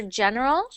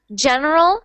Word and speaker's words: general: Okay, so when you do your G, the G sound for general, it should Yes. be general, because I'm hearing general.